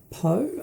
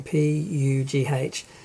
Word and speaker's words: Pugh: Florence Poe, I do not know how to pronounce her name, Pugh.